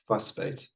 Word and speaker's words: vasbyt: So there's a South African word called fussbait. It's spelled VASBYT, so the V is pronounced with an F.